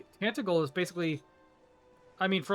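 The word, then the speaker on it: Tantegel: is What the where you fuck will is that find pronunciation? the Dread Ew. Lord of the Underworld. Tantagel. Ugh. It's Tantagle.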